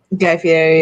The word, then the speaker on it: Guy Fieri: Guy Fieri, yeah.